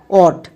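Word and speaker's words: ought: ইউ জি এইচ টি অট এবার এখানে দেখো আমরা সবাই জানি জি এইচ এর পরে যদি টি থাকে তখন জি এইচ সাইলেন্ট থাকে তাহলে দেখো এই ওয়ার্ড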